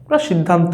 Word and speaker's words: সিদ্ধান্ত: সিদ্ধান্ত আমরা উচ্চারণ করতে পারি।